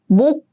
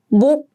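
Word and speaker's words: 몫: First, we have 목, 목. Do you hear the pronunciation? I only use the first 받침, the 받침 on the left side, as in 목, 목, 목.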